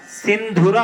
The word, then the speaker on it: सिंधुरः: इस शब्द पे ध्यान दीजिएगा। सिंधुरः है, यह उच्चारण के समय सिंदूरः भी सुनाई देता है।